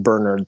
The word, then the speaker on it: Bernard: And he told me that it's pronounced Bernard, the English pronunciation.